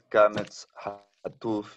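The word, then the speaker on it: קָמָץ חָטוּף: Y cuando está en una sílaba cerrada, no acentuada, suena O, no A. Y es Kametz Hatuf y no Kametz.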